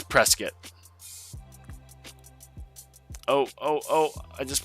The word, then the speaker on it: Prescott: from out of town is if they say Prescott. It's big. Um I've brought it up to people who live in Prescuit when I'm up there. They're like, "Yeah, the proper way to say it is Prescuit."